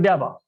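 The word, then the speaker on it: ∂: लेकिन आपने डेरिवेटिव लिया only with respect to x, तो इसको बोलते हैं डाबा, पार्शियल डेरिवेटिव्स, और प्रोनाउंस करते हैं डाबा.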